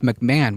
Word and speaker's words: McMahon: like a very very sleazy individual oh it's pronounced McMahon welcome to simulakra is a very bad person